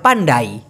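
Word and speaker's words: pandai: Malaysian ভাষায় বলা হয় পান্ডাই পান্ডাই অনেকটা শুনতে পান্ডার মতো শোনা যায় তাই না পান্ডা ওই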